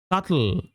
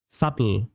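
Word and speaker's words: subtle: সাটল, এই বি এর উচ্চারণটা silent, সাটল, সাটল, what does it mean? সাটল উচ্চারণটা হচ্ছে সাটল, be silent totally, সাটল, what does it mean?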